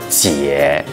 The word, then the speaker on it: 毑: 行字啊，普通话读作姐，咱潮汕话读作姐。